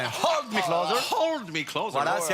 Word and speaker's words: Hold Me Closer: Alors le H est expiré. Hold me closer.